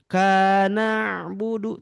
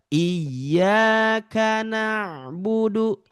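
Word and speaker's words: إِيَّاكَ نَعْبُدُ: Iyyaka na'budu kana budu. Tidak ya. Dia biasa aja mengalir gitu bacaannya. Jangan yang dipisah. Iyyaka enggak gitu. Ataupun yang diputus. Iyyaka na tidak ya, bukan na tapi dia dibacanya adalah iyyaka na'budu wa iyyaka nasta'in gitu ya.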